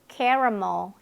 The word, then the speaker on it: caramel: 네, 그 다음에 카라멜 아니고 caramel 이렇게 발음이 되고 있고요.